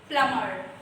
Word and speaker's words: plumber: So here the perfect pronunciation of plumber is plumber, right? See here I have written in the bracket. B is actually a silent letter. It is called plumber, right?